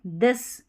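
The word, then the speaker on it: this: तो यह यहां पर है थिंग थ दिस। यहां थिंग थैंक थ है। दिस that दिस that the है और यह है मदर।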